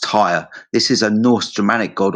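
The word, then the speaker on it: Tyr: So it's pronounced tire.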